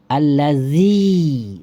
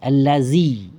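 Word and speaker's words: الذي: dengan ya Zaza ha ditukarkanlah alladzi allazzi Zi keras keras e lidahnya allazzi kayak diucapkan ya zzi ya Zaza alladzi n itu tidak boleh karena Zal itu hurufnya kalau di makhraj huruf adalah hampir tergigit ujung lidah Z alladzi zzi gigi dengan ujung lidah hampir dempet hampir menempel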